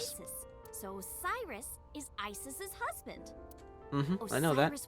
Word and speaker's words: Isis: mom is named Isis, but in ancient Egyptian, it's pronounced closer to Ise or Aset.